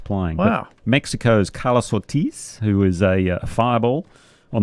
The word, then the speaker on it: Ortiz: Ortiz.